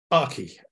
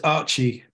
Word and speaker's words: Archi: Because we have architecture, we have Archimate, so you would assume Archi, which of course is the correct pronunciation in Europe. But for me, it's Archi, which is because the code name for the software, as well as developing